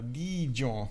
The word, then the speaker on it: Dijon: um so wait let me get it uh D John okay got it thank you thank you dropping